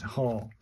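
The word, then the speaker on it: は: Haw. Pronounced as a Haw when laughing like haw.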